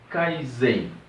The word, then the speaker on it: Kaizen: Bom, Kaizen. O Kaizen, ele é uma palavra japonesa, né, que se divide em duas sílabas. A primeira é Kai, que significa mudar, e a segunda é Zen, que significa melhor.